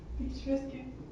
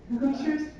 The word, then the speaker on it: picturesque: Picturesque. Pictures. Picturesque. Yay. You were a little bit mistaken. Yes, picturesque it is pronounced.